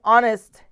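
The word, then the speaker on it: honest: आगे एन लगाते हैं द एच इन ऑनेस्ट is silent and the pronunciation ऑफ़ the word begin with the vowel ऑ hence and use before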